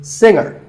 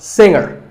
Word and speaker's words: singer: word is pronounced subtle another popular word with a silent letter is singer the g is silent now we say finger we say the g younger again with the g but singer no g and what would you